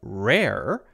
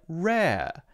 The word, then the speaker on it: rare: the R sound, because for a word like rare, they say the R part exactly the same. But they don't say rare, because Americans say rare. The second R sound at the end of the word or the end of the syllable is instead more open, like rare.